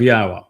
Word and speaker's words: Yahweh: And ha tells us how to pronounce the y, the yod, and the two hays in Yahweh's name. It's hi ya.